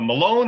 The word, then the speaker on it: Malone: and uh and uh is it pronounced uh malone or maloney sir i'm malone sir mr malone okay